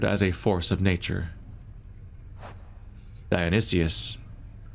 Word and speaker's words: Dionysus: DIONYSUS, or DIONYSUS, I'm adding an extra syllable.